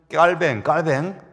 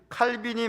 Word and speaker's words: 깔뱅: 우리가 믿는 깔뱅, 프랑스 발음 깔뱅이죠. 칼빈이 말한 기도의 몇 가지 규칙을 이번 제가 공부하면서 요약을 해봤어요.